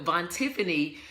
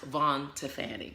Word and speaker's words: Vontifany: know cuz Bonnie also kind of mini but Vaughn Tiffany she said in actually it's pronounced Vaughn to Fanny because I said you know people all the